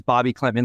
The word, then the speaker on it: Bobi Klintman: I think, so Wes did say confirmed pronunciation is Bobi Klintman, like we've been saying it. So Bobby, but with Ron, I don't think he's